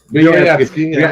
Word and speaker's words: Vyoryetski: got Boris Vyoryetski, Vyorv, but it's spelled like it sounds on Facebook. Boyarsky? Vyoryetski.